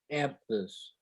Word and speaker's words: Aphthous: Aphthous.